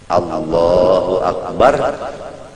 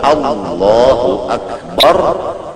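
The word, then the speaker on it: الله أكبر: Kalau Allahu Akbar bujur-bujur jangan membaca A menjadi ain akbar dibaca ain seperti Allahu Akbar. Kalak menuruti Arab. Allahu Akbar. itu Hamzah dibaca dengan ain maka hukumnya kada sah takbirnya.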